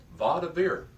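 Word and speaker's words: וַיְדַבֵּר: Notice I pronounced the first syllable va. Notice the schwa underneath the yod. So the division of the syllable begins at that point. The schwa tells me to stop pronouncing it as one syllable, but break the word up into 2 syllables. So it's actually 3 syllables. It's va, da, bir.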